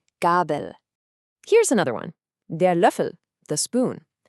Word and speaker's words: Löffel: This one has one of those famous umlauts, the Ö. So to make that sound, shape your mouth like you're about to say oo, but instead try to say the sound E. It's a sound that's pretty uniquely German.